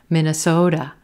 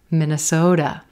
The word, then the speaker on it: Minnesota: Yes, do you notice that T is becoming a da, da, da, quick D sound? Soda, Minnesota, Minnesota.